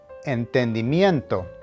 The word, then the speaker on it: entendimiento: this somewhat long word entendimiento which means understanding the emphasis needs to be on the second to last syllable nien which is pronounced